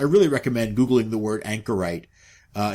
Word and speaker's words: anchorite: Um if you've never heard of this, I really recommend googling the word anchorite. Uh it's spelled like a ship's anchor with it on the end.